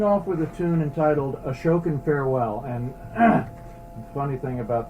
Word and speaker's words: Ashokan Farewell: we are starting off with a tune entitled ashokan farewell and the funny thing about this piece is that i used to mispronounce it all the time i would call it ashikan farewell and that is the wrong pronunciation but as